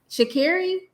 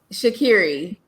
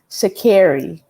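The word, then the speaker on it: Sha'Carri: be in the olympia shakira she corrected the reporter and i'm going to correct you say her name correctly shaqiri shakiri like kerry yeah okay shaqiri um my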